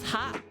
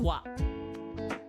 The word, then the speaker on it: は: Although uh by itself this hiragana is pronounced as ha in this sentence it's pronounced as wa.